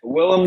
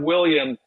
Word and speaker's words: Willem: Willem Dafoe. It's not William. It's Willem. That's true.